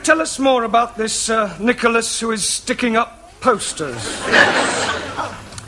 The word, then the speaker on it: Nicholas: upon a time there was a man called nickel us once upon a time there was a woman called nickel it's pronounced Nicholas alright once upon a time there was a man called Nico last he was supposed to man no no boss